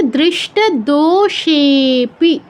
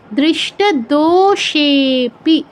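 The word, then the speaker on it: दृष्टदोषेऽपि: থার্ডটা কি, দৃষ্ট দোষেপি, দৃষ্ট দোষেপি। দো আর সে দীর্ঘ, কিন্তু পরে অবগ্রহ থাকায় সেটা হচ্ছে প্লুত হয়ে গেছে, তাই দো থেকে সেতে আমাদের বেশি সময় দিতে হবে।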